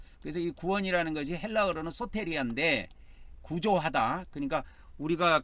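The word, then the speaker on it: σωτηρία: 긴 발음은 그래서 소테리아 이렇게 발음하면 되겠습니다. 그래서이 구원이라는 것이 헬라어로는 소테리아인데 구조하다.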